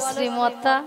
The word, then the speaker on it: শ্রী: ছিড়ি ছিড়ি নন বলো শ্রী শ্রী কি বলো শ্রী শ্রী সিরি আমি কি সিড়ি সিড়ি বললাম্যা বলে সিড়ি দিয়ে নামিয়ে দাও আমি বলেছি শ্রী শ্রী ঠিক করে উচ্চারণ তুমি ঠিক করে উচ্চারণ